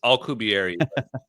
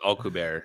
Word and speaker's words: Alcubierre: He butchered his name as well. It's Alcubierre. It's Alcubierre.